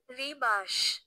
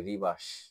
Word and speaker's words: Rebus: এখানে আমি যে লিখে রাখছি আপনি উচ্চারণটা শুনেন উচ্চারণটা কি রিবাস রিবাস আর আই বি এস ই এর মত উচ্চারণ হবে রিবাস রহস্য বিশেষ এক ধরনের এক ধরনের ধাঁধা ছবি